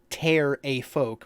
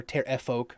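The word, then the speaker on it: Pterafolk: a little bit so Tara folk pronounced ter a folk or Terra folk right like Patera Don Terra Don are 10 foot tall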